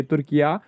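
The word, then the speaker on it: Türkiye: ठीक है, तो एक्चुअली ये सभी प्रोनाउंस सेम से ही होते हैं, तुर्की, तुर्किया।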